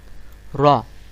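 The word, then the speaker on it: ر: 10 নম্বর আছে র, র, র, এরকম ভাবে উচ্চারণ করবেন র।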